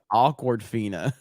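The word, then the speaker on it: Awkwafina: though after the K awkward Fina yeah yeah basically without the Rd uh awkward Fina uh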